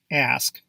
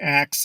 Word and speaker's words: ask: Proper pronunciation is ask. You would be surprised by how many native as well as non-native English speakers pronounce this word as ax instead of ask.